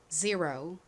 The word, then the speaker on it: zero: zero 좋습니다. 0에 가깝게 발음이 되죠.